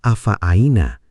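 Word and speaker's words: أفعيينا: Kata afa aina di ayat 15, seringkiali menantang karena ada dua huruf ain berturut-turut. Pastikan keduanya terdengar jelas.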